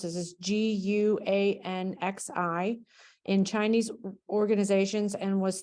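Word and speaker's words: 关系: So what she said is, I read about the role of, I don't know how to pronounce this, is GUANXI in Chinese organizations, and was thinking about how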